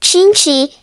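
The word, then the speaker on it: cinci: patru, pronounced like padru, sinci, pronounced like chinchi, sase, pronounced like shish, sapt, pronounced like shapte, opt, pronounced like opt, nua, pronounced like noa, zis, pronounced like zeche.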